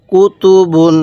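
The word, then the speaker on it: كُتُبٌ: কিভাবে পড়তে হবে হ্যাঁ কাফ পেশ কু তা পেশ তু বা দুই পেশ বুন বলুন কি হলো কুতুবুন হ্যাঁ আরেকবার বলুন কুতুবুন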